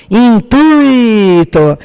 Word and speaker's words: intuito: O correto é gratuito, fortuito, intuito.